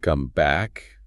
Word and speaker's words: comeback: And you have to notice the stress pattern, too. When it's the verb, we say come back. Equal stress or stress on the second word. Come back. Got it? But when it's the noun, the idiom, we say make a comeback.